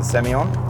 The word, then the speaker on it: Semillon: So it's renowned for Semillon, obviously. Some people pronounce it Semillon. If you're from the Hunter, it depends.